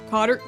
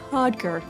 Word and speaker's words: codger: Cotter... What? Cotter... head... Oh. I looked it up on Google how you pronounce that. It said codger.